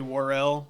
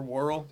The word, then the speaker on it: Worrell: said yeah Bernie world there are two pronunciations funny enough like you hear people say Worrell or warl I like War Hill do it Chad Smith